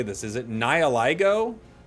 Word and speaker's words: Nihilego: Is it Nihiligo? How do I say that one? I just need to know what the pun is, then I'll get it. What's the pun? Nihilego.